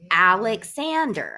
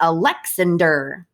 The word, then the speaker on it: Alexander: Alexander, it's Alexander. I think there are 2 emphasis in that name. We don't say Alexander. It sounds funny that way, right?